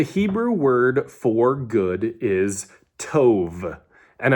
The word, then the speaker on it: Tov: Um, so the Hebrew word for good is to and I'm really hitting the the V sound at the end there just to kind of make it easier to hear because it's kind of hard to differentiate.